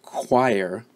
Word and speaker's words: choir: example we're looking at the word choir which is spelled CH o IR and here the CH combination makes this sound okay and finally the